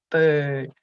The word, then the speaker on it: bird: They should be able to see you going bird, bird, not beard, beard, it's bird, bird, you know.